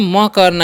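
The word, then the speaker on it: make: तो क्या हो देखिए एम का उच्चारण क्या करना है म करना है ठीक है तो म कर दिए ए का उच्चारण करना है एक केलिए के का उच्चारण करना है क तो हो गया मेक और ई वाला लास्ट का जो है उच्चारण नहीं करना है और क्यों नहीं करना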